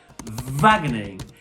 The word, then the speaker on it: Wageningen: First of all, we're taking a trip over to a place which I find impossible to pronounce, but it is pronounced Wageningen, and it is essentially one of the centres of food innovation and technology in Europe and even the world.